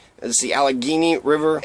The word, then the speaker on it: Allegheny: Empire in the United Provinces another correction the Alec Guinea is the Allegheny River Allegheny River as how you supposed to pronounce it in 1749 Simon Guardi senior and